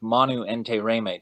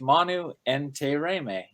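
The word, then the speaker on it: Manu Intiraymi: do an interview with manu entei reimei today ah so i said it wrong so my new instantaneous correct so it's manu and te reime okay gotcha so i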